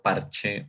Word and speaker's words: parché: Y si yo lo hago mi fuerza en esta parte y digo parche, es como si yo te estuviera diciendo, ¿no? Con algo, con cualquier cosa, yo parché una llanta, ¿no?